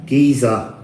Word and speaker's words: geyser: oh look it says what's the British pronunciation Giza Giza Giza so it's g-e-y-s-e-r orgiza